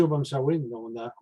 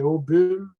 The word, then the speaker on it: Obomsawin: C'est seulement la partie Obomsawin. Mais ils ne prononcent pas ça de la même manière. Eux autres, c'est Obum ou Obon, B-O-N au lieu de B-O-M.